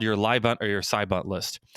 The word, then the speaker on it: LYBUNT: LIBUNT is spelled LYBUNT, and it stands for last year, but unfortunately not this year.